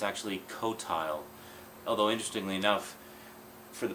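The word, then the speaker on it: Qotile: noticed when I did the recording I kept mispronouncing it quoti it's actually cotile although interestingly enough for the past 20 years or so I always pronounced it as CTI so quti cotile cotile whatever it's the bad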